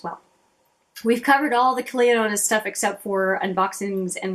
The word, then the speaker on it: Clionadh: lot of videos, and Clionadh is with a D in it. So if I were to go phonetically, it would be Clionadh, which I was saying the wrong way, but it's Clionadh.